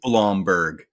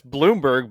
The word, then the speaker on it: Bloomberg: pronounce it so when so it is blomberg no it's Bloomberg but it's kind of